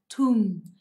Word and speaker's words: tomb: Tomb. Tomb. Mình đọc là U.